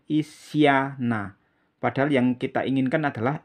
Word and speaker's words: Isyana: Hai Isya tak kemudian nah Hai Nah jadi Isyana Kalau ditulis seperti ini ihsana Nuh kalau ini